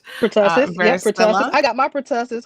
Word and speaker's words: pertussis: I hope I pronounced that one right. Pertussis, varicella.